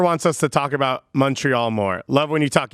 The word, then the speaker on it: Montreal: they call it montreal don't overthink it it's pronounced montreal all right practice here heels worse when i